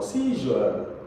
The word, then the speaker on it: seizure: Seizure. Seizure. Because this is a sure sound.